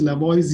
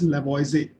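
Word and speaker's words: Lavoisier: given by lavoise though it is LA boys here you actually pronounce it as lavoisie in 1788.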